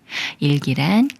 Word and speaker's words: 일기: 그로 소리내는 예외인 경우예요 먼저 이에 리을 배춘 수리인 을을 붙여서 이을 이을 1이라고 읽어요 1 다음에 기라는 말이 와서 일기가 되는데요 일기란 그날의 기록이라는 말이에요 따라서 1이 꾸며 주는 말이고이 꾸며 주는 말의 리을 받침이 기억을 만나지만 예외라 끼라고 읽지 않고 기라고 읽어요 일기 예문 읽어 볼게요 매일